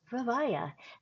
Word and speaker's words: Vivaia: I would be surprised if you've not heard of Vavaya. And yes, it's pronounced Vaya.